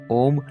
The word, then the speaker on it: ओम: उच्चारण की दृष्टि से ओम में 3 ध्वनियां हैं, अ, उ तथा म।